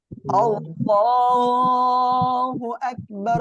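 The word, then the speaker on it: الله أكبر: একটু বলি আপনারা দেখেন আল্লাহু আকবার আল্লাহু আকবার এই যে একটা ছোট আরেকটা বড় করে এটা কিন্তু করা যাবে না ঠিক আছে দোয়াটা আমাদের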